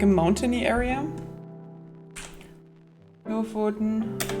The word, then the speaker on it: Lofoten: Do like Lofoten.